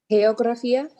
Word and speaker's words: geografía: Listen how I'm pausing at the last syllable. Geografía. Because I have an accent. So whenever we have an accent, we do like a little pause and we open the mouth a little bit more.